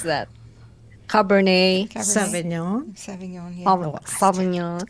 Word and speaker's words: Sauvignon: pronounce that? Cabernet, Sauvignon. Sauvignon. Yeah. Sauvignon.